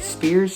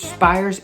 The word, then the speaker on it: Spiers: and there are no how do you say it spears spires everybody says it different i call it spires i'm sure the family